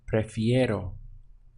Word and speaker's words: prefiero: But to say I prefer, it's going to be prefiero with this easy ero sound at the end.